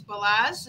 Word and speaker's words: Balazs: And also, along with Elena, is, and forgive me, but it's Balazs. Is that how you say it? Yeah, perfect.